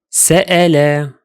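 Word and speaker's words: سأل: Now listen to the second word. Sa'ala. The word has 3 syllables. Sa'ala. Sa'ala. Notice how the Hamza causes a slight interruption, a glottal stop, that breaks the flow of the word.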